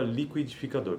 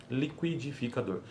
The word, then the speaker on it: liquidificador: Por exemplo, olha só o exemplo, a palavra liquidificador. Então, qui, isso é uma consoante complexa, neste caso, liquidificador. Mas, em alguns falantes, fala-se liquidificador, que aí já não é uma consoante complexa.